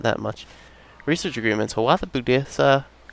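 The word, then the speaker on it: Boudicca: Hawatha Budisa. I keep saying Budisa. I think it's Bodica. Bodica. And somebody told me I was stressing the wrong syllables.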